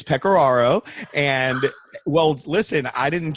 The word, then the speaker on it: Pecoraro: I hesitated here because I thought, I'm not quite sure how I pronounce this last night. Well, it's Pecoraro.